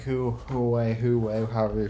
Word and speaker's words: Huawei: our wireless modem is actually uh manufactured by wway yeah like who like who who way who way however you pronounce it it's not bad it's pronounced W